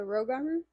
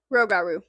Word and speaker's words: Rougarou: I think I've been pronouncing it right, but I just want to make sure. Like the Rougarou?